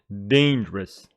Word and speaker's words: dangerous: dark and dangerous dangerous please pronounce this word correctly don't say danger use dangerous dangerous and you know that if we go to our beautiful dictionary long man dangerous is an adjective with the stress on the first syllable